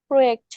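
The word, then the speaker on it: Projekt: আর প্রোয়েক্ট মানে হচ্ছে কি প্রজেক্ট। ঠিক আছে, কারণ যে কে আমরা হচ্ছে ইয়ট বলি, এই জন্য এখানে প্রোয়েক্ট উচ্চারণ হবে।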